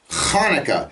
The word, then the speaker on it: Hanukkah: hanukkah is a legitimate holiday and it's not hanukkah it's hanukkah it begins with a hat noon cough hay and we can find